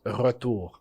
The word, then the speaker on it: retour: If I were to say return in French, the French word for it is retour. So I'm super pronouncing the R.